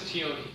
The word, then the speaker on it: Tioni: I believe everyone is here except for Tioni. I'm probably still mispronouncing his name. So, let us get started. Tioni? His name is Tioni. Okay, so I did pronounce it right then.